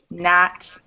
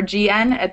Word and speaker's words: gnat: see k n or GN at the start of a word you don't pronounce the first letter you don't pronounce the k or the G you wouldn't say gnaw